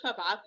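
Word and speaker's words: فابعثوا: So this word fab'athu also hamza loss in the middle. It will never be pronounced. So we move from the fa with fatha to the ba with sukun. Faba, not fa, No, we do not pronounce the hamza في الوصل at all, or add any short vowel. No, it's as if it's not there.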